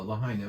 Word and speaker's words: Lahaina: this is on Mally and how do you pronounce it properly Lahaina on Maui uh Lahaina right it's right at the edge these good